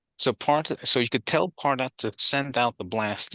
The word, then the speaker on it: Pardot: Actually, you said Paradot. Yeah, that it's pronounced Pardot, or that's what most people pronounce it, Pardot, yeah. or Mm. or Pardot, Yeah. because it's French, really.